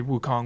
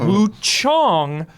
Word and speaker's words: Wuchang: Sorry, Wukong. Wu Chong. I'll be I'll pronunciate so you know what I'm talking about. Woo Chong.